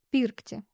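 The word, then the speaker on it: pirkti: Например, глагол пиркти. Если волна стоит над согласной буквой, например, здесь над «р», значит ударение будет на гласную перед ней. В данном случае на «и». Пиркти.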